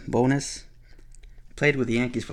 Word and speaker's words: Bones: teams here's Ricky bonus a lot of people call him Ricky bones but it's pronounced bonus played with the Yankees